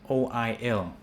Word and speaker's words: oil: words that end with o-i-l so in thailand we have i yeah people say baby i but it's actually oil so it sounds like there's a there's a y before the ilia foil soil